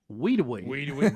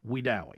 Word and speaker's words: Wedowee: And now the national media likes to call Wedowee Weedawee, but we know locally it is pronounced Wedowee.